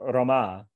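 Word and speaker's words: रमा: So Rama, with the second syllable long, is the name of Lakshmi.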